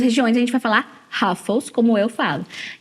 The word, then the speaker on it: Ruffles: como Rafa a batatinha eu falei rafas em vez de Ruffles porque no inglês esse R Inicial o som de R tem esse ele é um R